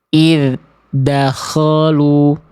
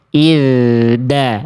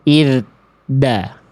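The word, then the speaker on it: إِذْ دَخَلُوا: Yang B salah karena bunyi-nya terpantau terhenti. Belum juga nyampai ke huruf dal udah putus di pertengahan jalan. Ya, jangan sampai diputusin di pertengahan jalan, Teman-teman ya. Oke. Jangan ee diputus di pertengahan jalan, ya. Oke. Dalnya diantar sampai ke huruf dalnya. Izda bukan id da.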